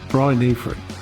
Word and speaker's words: Brynhyfryd: It's Brynhyfryd is how it's said.